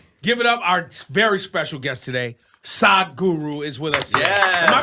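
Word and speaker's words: Sadhguru: Our very special guest today, Sad Guru is with us. Am I pronouncing it right?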